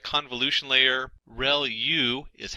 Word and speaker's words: ReLU: There are multiple hidden layers like convolution layer, ReLU is how that is pronounced, and that's the rectified linear unit.